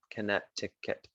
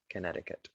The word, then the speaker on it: Connecticut: it should be pronounced you don't really say this c connecticut connecticut so here we are in connecticut it is the well